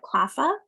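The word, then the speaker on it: CLPHA: i'm the director of cross sector initiatives at clava that's how we pronounce that acronym in case this is your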